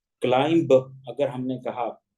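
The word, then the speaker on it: climb: मिसाल यह है कि बी अक्सर जब आखिर में आते हैं वर्ड्स के आप देखि आपके स्क्रीन में मिसाले दी गई है दो मिसाल दी गई है Kline C एल आई एम बी चे जा के यहां बी लिखा जा रहा लेकिन इस को पढ़ा नहीं जाएगा इसलिए ब्रैकेट के अंदर उसके तल को भी लिख दिया गया क्लाइम क्लाइम अगर हमने कहा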